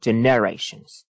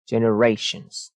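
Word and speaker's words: generations: واژگان که امتیاز داره استرس روی کلمات هست مثلاً ببینید جنریشنز اگر ما اینجا به اشتباه بیایم روی ن استرس بذاریم میشه جنریشنز اما استرس اینجا نیست جنریشنز در واقع استرس روی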